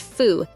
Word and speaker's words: Pho: Pho, pronounced "foo", it became popular in the early 20th century.